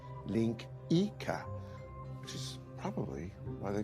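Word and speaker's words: linguiça: It's spelled linguica, but it's pronounced link Ika, which is probably why they call sausages links, now that I think of it.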